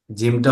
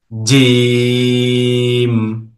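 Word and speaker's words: جيم: জিমটা হলো জিহ্বার মধ্যখান তার বরাবর উপরের তালুর সঙ্গে লাগিয়ে।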